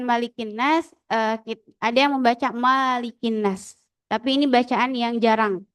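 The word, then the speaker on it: ملك الناس: Dalam bacaan Malikin Nas, ada yang membaca Malikin Nas. Tapi ini bacaan yang jarang ya. Tapi kalau kita dalam riwayat Hafs bacanya Malikin Nas, tidak dipanjangkan.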